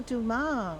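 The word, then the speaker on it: Dumas: Oh, Duma. Loron Duma. Rat. Yeah. You don't pronounce the S, but most people do.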